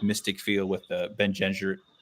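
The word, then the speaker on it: Bene Gesserit: I feel like a really adventure-y, magic, like mystic feel with the Ben Gesserit. How do you say that? Ben and Gesserit.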